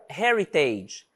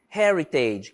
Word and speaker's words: Heritage: tem som de R Hybrid Hybrid híbrido or Heritage Heritage que também é uma palavrinha que inicia com